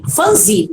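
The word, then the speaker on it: Phumzile: Fanzili é a pronúncia certa, Fanzili Milambo.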